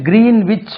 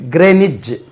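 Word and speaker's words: Greenwich: கிரீன் கிரீன் wh இது கிரீன்விச் mean time சொல்றாங்க ஆக்சுவலா கிரீன்விச் இல்லை இது ரெண்டு உச்சரிப்பு இருக்கு கிரேனிச் கிரேனிச் எப்படி எழுதலாம் தமிழ்ல எழுதுறேன் கிரேனிச் கிரேனிச் கிரேனிச் மீன் டைம் கிரேனிச் இச் இல்லை ஜா கிரேனிச் மீன் டைம் எப்படி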